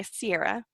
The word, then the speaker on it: Ciara: because you asked before we started how to pronounce my name right and my whole life I've gone by Sierra as anyone can see with you know the